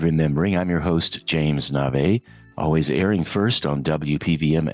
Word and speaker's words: Navé: Navé is spelled N-A-V-E.